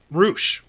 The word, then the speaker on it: Rush: Roo. Roo. Roo. Oh, okay. Roo, but it's spelled Rush. Yeah, I think it's Spanish.